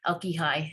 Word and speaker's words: Alquijai: My name is Alquijai. It's you can pronounce it, the mnemonic my wife and I use, my wife's used for many years, is it's like alcoholic high school, Alquijai.